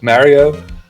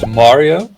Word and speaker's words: Mario: Well, the most interesting part of it is why British people hear it as Marry-oh and the American people here it is MARio, and I think that it’s because the Italian